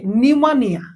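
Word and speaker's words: pneumonia: আন নিমোনিয়া ইউ এনই নিউমোনিয়া okay নিউমোনিয়া পড়িবে বাকি সব পুরা ইজি ওকে এনিয়া স্টার্টিং পড় ওকে তো নিউম অর্থ কোন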